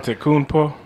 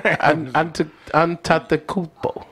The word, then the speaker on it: Antetokounmpo: Antetokounmpo? Which one? Both of them. That's their name. Antetokounmpo.